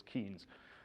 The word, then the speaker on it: Keynes: alive to complain and I just think of him as keenes and rather than Keynes because that's how it's spelled and Keynes of course